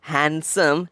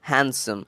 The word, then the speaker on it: handsome: It is not handsome. It is rather handsome. It is completely D silent.